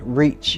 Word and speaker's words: RECH: And we use the acronyms RECH, pronounced REACH.